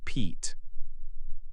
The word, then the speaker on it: Pete: When we add a magic E, it becomes Pete. The E in Pete now has a long E sound.